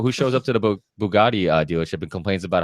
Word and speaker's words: Bugatti: May's got like multiple Bugattis yeah so if I had multiple Bugattis i' would be eaten cheeseburgers Bugatti yeah Bugattis I think that's how you pronounced it it is he was correct yeah but uh no